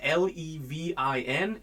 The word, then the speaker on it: Levin: My name is spelled L E V I N and pronounced Levin. Kind of like living the dream is one way that I have often told my students they can remember it.